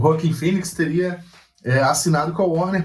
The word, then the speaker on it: Joaquin Phoenix: Ano passado, retrasado, acho que foi ano retrasado, um deles publicou que o Joaquin Phoenix, a pronúncia correta, o Joaquin Phoenix teria assinado com a Warner para fazer o filme do Coringa.